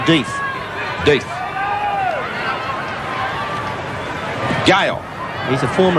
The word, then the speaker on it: Death: I think you pronounced that one Death.